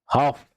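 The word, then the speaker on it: half: हाफ, L silent है ना, हाफ।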